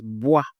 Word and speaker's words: bois: So we have here b and wa. We pronounce as bois, bois.